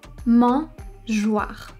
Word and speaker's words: mangeoire: At the beginning of the word we therefore have "Mange-" and then we have the letters O and I which together are "wa". So mangeoire.